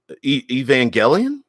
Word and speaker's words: Evangelion: Tesla says the in Evangelion, note pronounced with a hard G, Evangelion. I didn't know that. I've always pronounced it Evangelion, but note pronounced with the hard G.